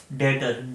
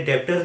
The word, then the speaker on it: debtor: नया वर्ड है आपके लिए डेटर, DEBTOR। अब कुछ बच्चों को लग रहा होगा सर ये तो डेप्टर बन गया। ये डेप्टर नहीं है, बी साइलेंट होता है, दिस इज कॉल्ड डेटर।